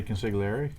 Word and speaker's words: consigliere: on tangent you say consigliere carry the car I don't know why is there a G in there it's a sign herb it's a silent G right Rob that's exactly